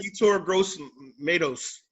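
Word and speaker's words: Yetur Gross-Matos: Yertur Gross-Mato. I think I say his name right. Yertur Gross-Matos. There you go. Matos. Yeah. Tomatoes.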